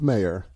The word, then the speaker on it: Maher: good for her and i do believe it's pronounced mayor sorry thank you mayor